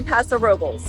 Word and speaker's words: Paso Robles: Today we are in Paso Robles, or as the locals say, Paso Robles, California.